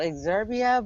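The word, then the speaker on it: Exurb1a: It's called Exurbia, but it's spelled EXURB, the number 1 and an A.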